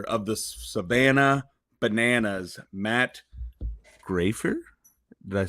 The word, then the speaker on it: Graifer: the young Professor of the Savannah bananas Matt graer did I say that correct did I pronounce it correctly you nailed it you nailed